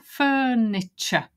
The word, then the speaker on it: furniture: here so look down Furniture stress on the phone that's the word furniture and notice the CH sound like picture and nature there it's unstressed because this is the stressed word furniture next word is well